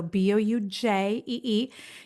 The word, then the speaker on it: Boujee: It's spelled with a J for Jennifer and Jason. So Boujee.